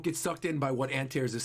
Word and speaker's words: Antares: do you say it it's not antairs how do i say it how do i i also agree this is totally sus how do you say his name if i'm saying it wrong it's not antares i'm curious how you pronounce it otherwise i thought it was antares it's antares oh and therese antares oh and therese